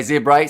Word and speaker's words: Zebre: Say zebra. See, I said zebra for a few matches in the past and I got told say it like the animal.